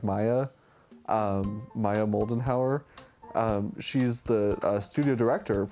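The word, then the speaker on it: Maja: always butcher her name it's spelled m-a-j-a but I think you say like Maya um Maya moldenhauer she's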